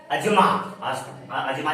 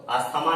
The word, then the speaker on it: asthma: है respiratory disease का, like अजमा लिखा जाता है इस तरह से ASTHMA, अजमा कहते हैं इसको, अस्थमा नहीं, अजमा, correct pronunciation अजमा, and bronchitis गले का रोग है, ठीक।